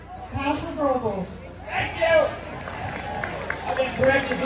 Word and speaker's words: Paso Robles: All of you who don't live around here, this is how you say the name of this town. Paso Robles.